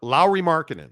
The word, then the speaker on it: Lauri Markkanen: right I say lri marinan Lowry maranan La Lowry marinan and and I love that that it it's